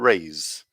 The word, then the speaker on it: raise: race and raise and the difference between these sounds is that the second one is voiced so we use the vibration from our voice box to to make that so it's raise if you say that this is you can feel a vibration here and this one isn't voiced i'm sure you can see that so the s it's just like air coming through s race rays so